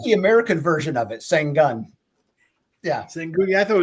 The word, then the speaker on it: Şengün: how does this guy get the crazy little Şengün?